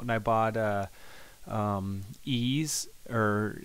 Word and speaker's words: Ys: I bought uh um ease or the title is why is like the letter Y but it's actually pronounced ease and oh man what